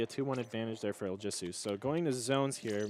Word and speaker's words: Ijisu: Also, I'm just realizing, is it Iljitsu or is it Ijisu? Oh, I thought it was L in the bracket. It's an I. So it's a capitalized. So we've been saying it wrong this whole time.